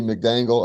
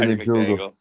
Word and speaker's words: McDangle: The fucking Marty McDangle. I always want to call him Marty McDougal. Did I say it right? Is it McDangle or McDougal? It's Marty McDangle's his name, and you call him McDougal.